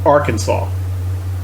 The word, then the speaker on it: Arkansas: distinction between so here's the state this is pronounced Arkansas and what I have said before is the